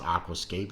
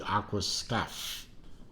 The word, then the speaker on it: Aquascaphe: one of their Aquascape Aquascape spelled with an extra H in the uh in the word for some reason I don't know but I I think it's a pronounced Aquascape it might be Aqua stuff scuffy I want to